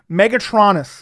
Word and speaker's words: Megatronus: Megatronus is how you pronounce it.